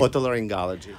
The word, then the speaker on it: Otolaryngology: Otolaryngology.